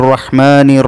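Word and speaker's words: الرحمنِ: ബിസ്മില്ലാഹിർ റഹ്മാനിർ റഹീം. അർ റഹ്മാനി എന്നായിരിക്കണം ഓതേണ്ടത്.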